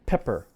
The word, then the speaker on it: pepper: So look at the P in pepper. Pepper. Which one has aspiration? Pepper. Pepper. Pepper. Pepper. The first P has aspiration. P. The second one does not.